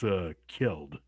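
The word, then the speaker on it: Kjeld: Actually, I think that's Keld. Keld. Okay. Thank you. Kield. Keld. Like pronounced J like Y. Gotcha. Like Bjork.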